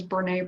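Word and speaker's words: Brené: there's a tedx speaker her name is bernay brown look her up it's a it's renee spelled with a bee beneath brene brown she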